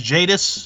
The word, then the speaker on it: Jadis: so uh so yeah her name is is jadis that's it this is how you